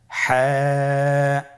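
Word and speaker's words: ح: পরবর্তী হরফ আমরা যেটা শিখব সেটা হলো হা। হায়ের মধ্যে কোনো নোক্তা আমরা দেখতে পাচ্ছি না। হা হরফটি কীভাবে উচ্চারিত হবে? হা হরফটি উচ্চারিত হবে কণ্ঠনালীর মধ্যখান হতে। গলা চিপে ধরে আপনি উচ্চারণ করুন।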